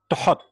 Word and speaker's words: Thoth: pronoun right pronunciation of Thoth is it though they're tough but okay it is hot actually if we followed the ancient Egyptian way it is the hot there you go alright